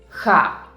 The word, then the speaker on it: Х: The next letter is ha. It sounds pretty similar to the H sound in English, only pronounced with a little bit more effort.